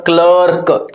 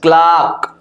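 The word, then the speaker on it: clerk: माच बार हाट हाथ क्लार्क इट न क्लर्क क्लाक ठीक है क्लक देखो क्ल आ क क्लक आर नहीं आएगा अगर तुम इसमें आर लिख देते हो क्लार्क तो रंग हो जाएगा सही क्या है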